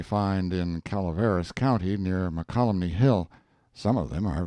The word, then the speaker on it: Mokelumne: that name called it and got this colony makalah NEMA colony my colony I have seen some of the beautiful opals they find in Calaveras County near Mokelumne Hill some of them are very handsome dramatic